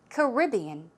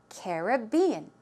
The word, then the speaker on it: Caribbean: of all number one Caribbean Caribbean distress goes on the second syllable one more time Caribbean or Caribbean Caribbean on the first and third syllable one more time Caribbean Caribbean okay so she